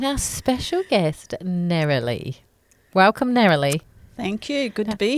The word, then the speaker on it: Nerilee: the gold in our special guest narrowly welcome naralee thank you good to be here it's naralee isn't it that's right that's how I pronounce it yeah nice to meet you there